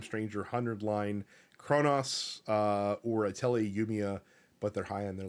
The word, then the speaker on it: Atelier Yumiya: Proud of you for pronouncing Atelier Yumiya correctly.